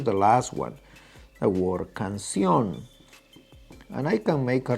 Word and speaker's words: canción: So the word canción carries acento because, first of all, it's a palabra aguda, meaning that carries the acento in the last syllable.